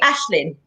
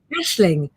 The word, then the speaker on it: Aisling: I think that's actually Ashlyn. I think that's how you say it. Aisling. See, Aisling.